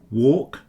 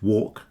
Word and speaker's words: walk: Today, the silent letter L in words like walk and talk. You can't hear the letter L. Walk rhyme with pork.